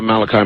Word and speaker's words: Malachi: Father Malachi, is it? Yes. Yes. Okay, pronounced it right.